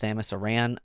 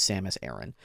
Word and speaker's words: Samus Aran: day that you learned it's not pronounced Samus Aran I'm sorry but it is Samus Aaron um is in Zelda